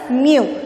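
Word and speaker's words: μ: letter greek letter mu this is called as mu when we say it is a greek letter when you pronounce it it is pronounced as mu so what is mu the refractive index is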